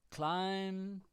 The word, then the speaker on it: climb: So usually, like when there's an MB, the B is silent. Succumb is the verb. Yep. Climb.